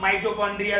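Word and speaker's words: mitochondria: मिटोकॉन्ड्रिया, बहुत सारे teacher इसका प्रोनाउंसिएशन माइटोकॉन्ड्रिया भी बोलते हैं।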